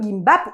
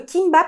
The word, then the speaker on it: 김밥: ai montré comment faire le gimbap ou encore le kimbap parce qu'il s'écrit avec un géo avec un K ça se dit des deux manières différentes donc le kimbap plié